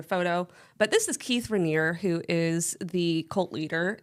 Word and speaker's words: Raniere: Okay, named after the mountain? No. Okay. Just exists. The cherry? No. Okay. It's not even spelled the same way. It's not. Oh, it's not? No. Oh, okay. Oh, okay. But, I see. Yeah. No. It's Raniere. Raniere.